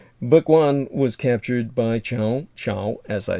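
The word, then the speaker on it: Cao Cao: as i said uh most people who would see the spelling of his name in romanization would think it was kao kao but that's really it probably the brits would pronounce it like that that's not how the chinese pronounce it um most of the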